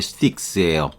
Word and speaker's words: Styx: D번에는 스틱스로, 여기 스틱이 있죠. 스틱. 똑같아요. 발음이. 스틱에다 S를 붙이는 게 스틱스예요.